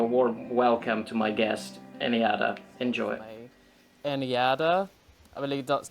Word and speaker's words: NJada: please give a warm welcome to my guest anada enjoy anada I believe that's that's how you uh pronounce your name right that's right yeah because